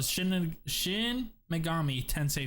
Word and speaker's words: Shin Megami Tensei: those that date back to the yeah so shin megami ten say five there you go you said it right